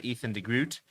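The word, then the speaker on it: Ethan de Groot: Ethan Ethan Degrroot as as they say. And that's how he says that's how we have to say I suppose. Got to respect his um pronunciation. So Ethan Degrroot uh is into the starting lineup.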